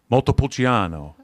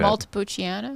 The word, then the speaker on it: Montepulciano: Montepulciano. You have to say it like that. Montepulciano.